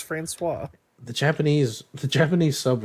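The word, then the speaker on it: François: FL when flowerin florus Florance how do you pronounce it uh oh franois is Butler oh is it franois man it's franois the Japanese the Japanese sub really doesn't get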